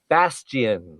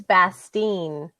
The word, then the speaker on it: Bastien: your name again yeah Bastian I love that last name it's like actually it's bastine oh bastine well thank you I